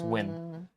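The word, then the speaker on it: Nguyen: just not gonna win woo win is Nan spelled like that but it's win oh using streamer what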